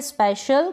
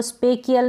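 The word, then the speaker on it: special: पर इसको ब्यूटीिशियन या ब्यूटीिशियन दोनों तरीके से प्रोनाउंस कर सकते हैं। तो क्लियर हो गया होगा। इसको हम पढ़ेंगे स्पेशल। क्या पढ़ेंगे? स्पेशल। अब इसको स्पेशियल नहीं पढ़ेंगे।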